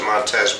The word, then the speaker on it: Montes: Sergeant Montes it's interesting he pronounced it montz but it ended with an S not a z I never understood but